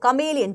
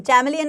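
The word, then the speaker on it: chameleon: बोला एक कमलिन को कमलिन चमेलियन नहीं होता कमलिन होता है प्रोनाउंस एशन सही करेंगे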